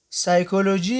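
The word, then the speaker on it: psychology: د پی توری کله چې د جملو په سر کې د اس او ان تورو څخه مخکې راشي نه تلفظ کېږي، لکه نمونیا یعنی سینه بغل. سایکولوژي یا ارواپوهنه.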